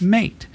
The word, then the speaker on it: MATE: be M at all sorry it's mate cuz it rhymes with a M A I think it's mate because it's kind of a melding of the two versions they have mated that's right it's mate